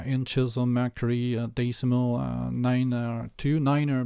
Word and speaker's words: nine: of mercury decimal 92 niner because that's IO pronunciation as well so you